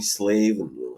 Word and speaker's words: Slaven: uh, is it Slaven or Slaven? Yeah, Slaven, Slaven. All right, You know, got it. it's kind of interesting. Some Americans have gotten it right, but some also call me Slaven.